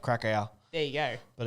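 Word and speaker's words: Kraków: Yeah, it's pronounced Krakow.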